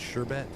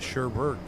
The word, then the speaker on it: sherbet: the stores right now, it's sherbet, not sherbert. My grandma even said sherbet.